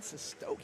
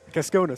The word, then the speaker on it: Keskonis: If you're just joining, I'm Calvin DeLude, joined by Quinn Sestoki. Did I say it right? Keskonis. Keskonis, my fault.